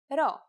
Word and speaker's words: ρ: Our first letter this time is the consonant ro. Its sound is r and is exactly like the English R.